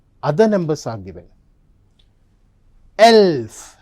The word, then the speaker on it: elf: Elf. 11 is pronounced as elf.